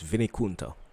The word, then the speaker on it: Vinikunta: And I looked up the pronunciation. It's Vinikunta. So that's what we're doing today.